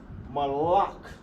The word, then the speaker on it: malak: King in English is pronounced malak. Malak in the ancient. Ma, la, ka. Without the A right here, you have the connector, you cut off the A right here. Malak. That's how you say king, like Yahushua is our king.